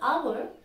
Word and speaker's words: hour: that is ETC so in this word hour the first letter is H that's a consonant but the sound is Ah that's why we say an hour not all hour just like that let's